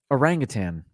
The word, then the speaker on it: orangutan: hutan for forest but many people prefer pronouncing an anglicized version that adds another g to the end i must have gone most of my life doing that orangutang i know i've done